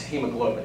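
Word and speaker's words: haemoglobin: The A is not pronounced. It's hemoglobin, H-E-M-O.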